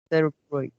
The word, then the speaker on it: cerebral: including the treatments of cerebral cerebral cerebral palsy metabolism, exciting early signs of benefit. Yeah, the last line. Yeah, I think the stress should be all on the first syllables. Sorry, the second syllables.